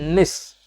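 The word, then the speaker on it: gneiss: प्रकार की चट्टान है इंग्लिश में इसकी स्पेलिंग होती है जी एन आई एस एस पढ़े निष्पादानिस तो नहीं पद सकते हैं दिस आयरलैंड है ठीक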